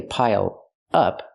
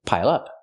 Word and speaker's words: pile up: Pronounce it like one word. Don't say pile up, say pile up.